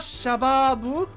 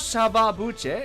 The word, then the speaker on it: Shababuche: Oh, it's not shababu. It's not shababuche. It's shababu. Shababuche. Shababu. So the T is a CH sound.